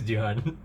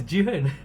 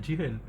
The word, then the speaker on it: Jihan: people, I would say, hi, my name is Jihan. But in actual fact, my name is Ji-hen. It's pronounced Ji-hen.